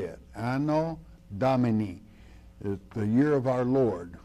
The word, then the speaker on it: Domini: Lord that's how you say it I know Domini the year of our Lord which the Lord